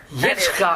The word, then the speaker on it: Yitzchak: Yitzchak. That is the actual way it's pronounced.